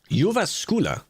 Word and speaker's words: Jyväskylä: How to pronounce Jyväskylä, apparently, according to the breaking it down phonetically.